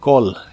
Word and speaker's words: call: y usaremos el verbo call que significa Llamar la a se pronuncia como o en esta palabra y la doble l se pronuncia como una l normal Call call el auxiliar